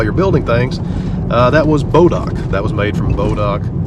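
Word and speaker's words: Bois d'Arc: Arkansas called bodock Lake now if you see it on the map it looks like it's spelled boys the ark interesting little factoid here I know what this is inadvertently I've known about bodock all my life my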